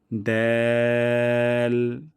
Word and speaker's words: ذال: তারপরে হরফটি হলো দ্যাল। জিহ্বার আগা এবং সামনের উপরে ২ দাঁতের গোড়া থেকে পাতলা সাউন্ডে উচ্চারণ করব দ্যাল, যেন দাল না হয়ে যায়।